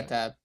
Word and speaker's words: YahTab: But just assumed it, if it involved YahTab, which that's how you say it, right? I asked before. yeah, YahTab.